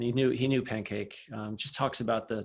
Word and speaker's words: Pancake: apostrophe capital j and his last name is pancake just like you you'd imagine it's spelled okay thank you yeah